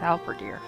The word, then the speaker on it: halberdier: she said level two albediere how birdier other deer never sure how to pronounce that one helvedeer halberdier okay it's alpha deer i really want to